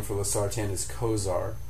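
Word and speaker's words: Cozaar: And the brand name for Lartan is Kosar.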